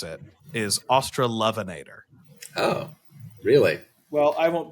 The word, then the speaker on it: Australovenator: way every Australian pronoun so the way we pronounce it is austral vanator MH the way every Australian pronounces it is australovenator oh really well I won't be adopting that